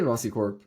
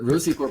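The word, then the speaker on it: Rocicorp: be thinking about it I say Rossy um but but Rosie Corp is also correct um it's it's named after the rosante uh which is uh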